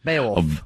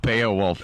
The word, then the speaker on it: Beowulf: Beowulf. Beowulf. I say Beo, though. It's B-E-O.